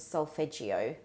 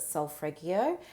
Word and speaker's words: solfeggio: Some of my very favorite music for clearing and cleansing a space is called solfeggio music. Some people pronounce it solfreggio, Solfreggio.